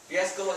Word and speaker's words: riesgo: So same thing here. Go sounds just like go.